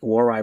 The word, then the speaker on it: Waray: How you pronounce that? That's a dialect. Hi, Waray Vlogs.